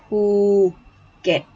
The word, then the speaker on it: Phuket: they, if you know, sometimes because you're used to with the ph pronounced like f, like the word phone, right? But it's pronounced Phuket.